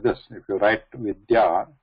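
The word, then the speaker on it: विद्या: There is a difference between there is no A. So these to be pronounced together. So that's vidya.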